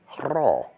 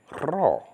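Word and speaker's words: rho: But this is the raw, raw, and it's not hard to say. I mean, if you played with a toy machine gun when you was little, you went probably like that. So just say it like that, okay?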